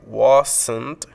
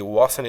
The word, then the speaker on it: wasn't: Nótese que en el inglés americano, muchas veces la T al final de esta variante negativa se puede perder la pronunciación, por lo que podemos